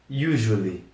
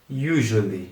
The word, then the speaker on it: usually: Então, tem primeiro essa letra U inicial que tem aquele biquinho depois esse su tem meio que o som de J.